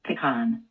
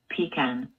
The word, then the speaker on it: pecan: It is pronounced differently by different country, by different language speaking people. Let's try that. You say pecan. I say pecan.